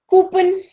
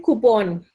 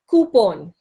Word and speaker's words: coupon: Coupen. I'm recently you know very commonly we call it Coupen. Coupen. Coupen. What is the actual pronunciation? Coupon. Pawn. P A W N. Just say you know you have pawns when you play chess. We call them pawn. So it is coupon.